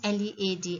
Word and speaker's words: lead: we have is led as a verb and l-e-a-d as a noun so n-e-a-d when it is used as a verb the pronunciation is lead he is leading his team